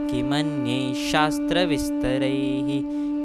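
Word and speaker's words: किमन्यैः शास्त्रविस्तरैः: जब भी अगर विसर्ग के आगे स अक्षर आता है तो हम वहाँ पे अर्ध स का उच्चारण करेंगे, और अगर श अक्षर आता है तो विसर्ग की जगह हम अर्ध श का उच्चारण करेंगे। तो यह इस प्रकार होगा।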